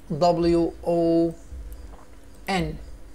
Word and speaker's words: won: كسب او فاز W W O N won، خلي بالك نطقها won كمان نفس نطق won اللي هي O N E اللي هي رقم واحد تمام كده.